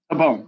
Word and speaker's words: Tabone: Is that how you say it? Tabone, yeah. Tabone. Okay, I got it right.